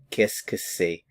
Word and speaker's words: Qu'est-ce que c'est: So a lot of these words run together when you actually pronounce them.